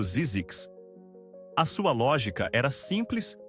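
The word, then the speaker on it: Zzyzx: Então ele inventou o nome ZX, pronunciado Zizix.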